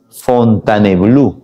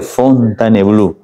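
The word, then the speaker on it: Fontainebleau: tratado de fontan bleau se escribe fontane blau pero a la hora de pronunciar se dice fontanblue el tratado de fontanblue fontanblue qué rey le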